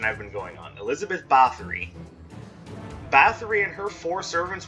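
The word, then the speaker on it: Báthory: bathory but and actually according to this it's actually pronounced battery but any but we'll just keep up with the same with the same pronunciation i've been going on elizabeth bathory bathory and her four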